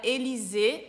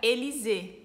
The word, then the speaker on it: Élysée: E na palavra Élysée tem dois Es com acento agudo, que fica o som de E, então fica Élysée. E tem o Y, que é o mesmo som de I, Élysée.